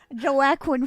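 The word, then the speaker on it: Joaquin: I was just like how the do you pronounce that name joquin joakin Jo Aquin Phoenix joakin Phoenix yeah like that's a sick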